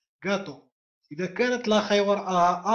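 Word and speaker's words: gato: وراءها أ أ أ، لاخي وراءها أ أ، خينيرو وراءها أي، غاتو نعم، حمد عبد الجليل، غاتو غاتو، إت، غاتو، لا نقول خاطو، غاتو.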